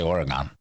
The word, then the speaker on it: Oregon: where you are in the US how you pronounce it I say Oregon they have passed a bill to rec criminalize